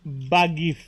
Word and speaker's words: Bath'gith: His name is not Tav, it is Bagif.